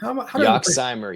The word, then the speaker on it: Yoxsimer: Am I going to pronounce this right? Yoxsimer? Yoxsimer, yes. First try, let's go.